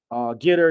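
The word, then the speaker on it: GETTR: It's spelled Getr. Getter.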